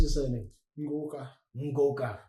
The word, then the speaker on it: Ngoka: Ngoka. Ngoka. I almost think of it as Goku. Like it's almost spelled the same way, Goku. Just N in the beginning. Ngoku.